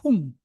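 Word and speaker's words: hum: om but when you pronounce the whom you do not close your mouth you pronounce it whom like leaving your lips open so om but when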